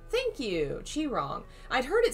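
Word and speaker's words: Qi Rong: get in a suggestion it's pronounced like chi wrong thank you chi wrong i'd heard it said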